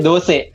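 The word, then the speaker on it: dosa: It's clearly not from Kerala because you pronounce it dosha. How do you pronounce it? In Karnataka, we just say dose.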